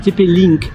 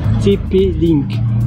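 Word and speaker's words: TP-Link: TP Link. Donc tu tapes TP et puis link L I NK. Je disais tipi parce que c'est en anglais la prononciation.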